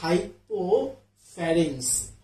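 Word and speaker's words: hypopharynx: এটা উচ্চারণটা হচ্ছে হাইপোফারিং। হ্যাঁ হাইপোফারেন্স। এবার একটু এইদিকে আসেন।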